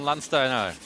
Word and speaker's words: Landsteiner: If I would pronounce it German, it would be Landsteiner.